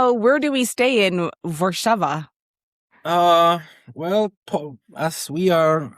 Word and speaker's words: Warszawa: At the beginning, you told me how to pronounce Warsaw in Polish. It's Warszawa.